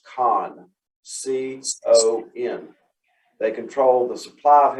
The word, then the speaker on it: CON: you pronounce that even in davidson county it's pronounced con c-o-n they control the supply of health care